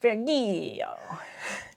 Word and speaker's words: Virgilio: So this one is called Virgilio, which is how you say Virgil in Italian.